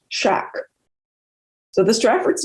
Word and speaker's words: Shakespeare: was spelled almost always without the E in Shakespeare, meaning the first syllable was pronounced shack.